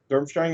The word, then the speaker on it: Durmstrang: Is that how you pronounce that? Yeah, that's from Harry Potter. That's like the... Durmstrang is the Hungarian wizard school, and they got this like big old hat thing.